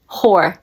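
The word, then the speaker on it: Hoare: This is how you spell it. Whore.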